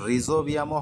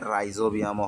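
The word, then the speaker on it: Rhizobium: এটার উচ্চারণ রিজোবিয়ামও হয়, রাইজোবিয়ামও হয়, তোমাদের যেটা খুশি তোমরা দিতে পারো।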